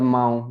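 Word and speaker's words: mão: या अगर आपने शब्द सुना हो काऊ, काऊ, काऊ, काऊ का मतलब है कुत्ता, या माऊ, है ना, माऊ हाथ।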